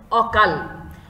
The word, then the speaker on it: অকাল: অবিকৃত থাকে তাহলে সেটার উচ্চারণটাকে আমরা বলবো স্বাভাবিক উচ্চারণ। যেমন দেখো অকাল, এখানে কি বানান ব্যবহার করা হয়েছে?